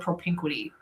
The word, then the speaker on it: propinquity: And Craig and I talk about this through the word propinquity. This comes from Charlie Green's research. You might just spell it, Brandy.